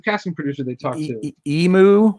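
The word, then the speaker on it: Yimu: Emu, Y-I-M-U is how she spells her name. Emu is how she Okay, pronounces it. She's a really nice gal.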